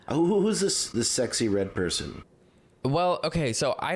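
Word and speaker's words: Sexyy Red: so I think it's pretty Her name is pronounced It's just Sexy Red.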